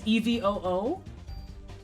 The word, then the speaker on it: EVOO: She actually pronounces Evo letter by letter on her shows, like EVOO. She says EVOO.